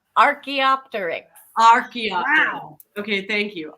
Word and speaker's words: Archaeopteryx: Asteropteryx. I'm not pronouncing it correctly.